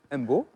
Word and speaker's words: Mbour: suis en concert à Mbour avec mon frère Wally Seck. Oui. À Bourg. Je fais sa première partie. On appelle ça Bourg ici. Moi, je le prononce pas.